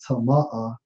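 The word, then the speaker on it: טמא: Hey, bro, and if you look at the term polluted in the Hebrew, it's Strong's H2930, pronounced as tama'ah, and it means to be unclean.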